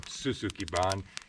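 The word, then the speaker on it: shou sugi ban: doing right now is i pronounced it wrong in a previous episode a few back but it's called suzukiban it's a japanese term for a way of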